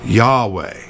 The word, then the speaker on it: Yahweh: as an inhale and way is technically pronounced as an exhale ain't that cool so